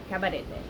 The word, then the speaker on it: Cabarete: Cabarete.